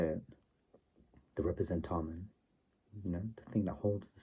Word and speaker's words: representamen: That's interpretation of a sign vehicle as which is the proper way to say it, the representamen, the thing that holds the sign, the vicegerent,